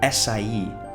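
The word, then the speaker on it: açaí: Think of the famous word acai. When you pronounce the C with cedilla, it comes from right near your teeth.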